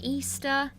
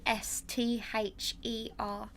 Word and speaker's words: Esther: I get people saying Easter or Etta. Yeah. Well, I get all sorts, but so no, it's spelled Esther.